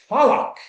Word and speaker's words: Tlaloc: Tlaloc, if you say it correctly, I might scare you guys, but it sounds like a thunderclap.